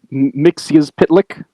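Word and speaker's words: Mxyzptlk: Mix Pitlick. That's it. Thank you. As it's pronounced in the animated cartoon from the 90s.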